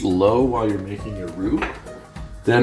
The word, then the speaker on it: roux: And this is another French term, R-O-U-X, pronounced roux, as in you will rue the day when you make terrible, terrible jokes like me in front of your spouse.